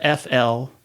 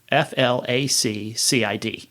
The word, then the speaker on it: flaccid: And that makes sense when you think about success, accident, vaccine, vaccination.